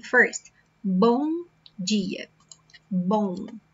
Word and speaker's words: bom: Bom dia, bom. So we say it like this, bom. Okay, it's not bom, bom.